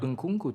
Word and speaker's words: Nkunku: Nkunku to an extent also because he was at PSG and wasn't really doing much, and then he moved out. Yeah. Say Made Nkunku again.